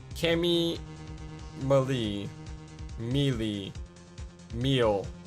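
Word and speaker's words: Meele: Malie? Cami Malie. Mealy. Meal. It's supposed to be meal. I'm saying it wrong. My bad. I've been saying it wrong this entire part. I forgot. It's Miss Meal.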